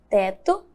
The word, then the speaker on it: teto: E a palavra teto é escrita com O. E possui o som de U.